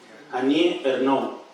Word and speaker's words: Annie Ernaux: la lengua gálica, que me corrija en la pronunciación. Annie Ernaux.